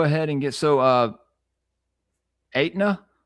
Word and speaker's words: Etna: Well, let's go ahead and get So, uh, Etna. Is that how you say it? It's Etna the the insurance. Well, Etna, it is like Etna the insurance. In fact, that's one of the reasons why they called it Etna the insurance.